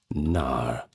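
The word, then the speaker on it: knarr: Now, they were called NAR, and that's spelled K N A R in contrast to the lean warships.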